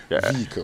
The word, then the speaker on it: vehicle: an advancement of vehicle vehicle yeah see raymon vehicle yes so if you want to say it